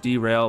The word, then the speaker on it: Drale: pretty soon i have drale it's pronounced derail but i was like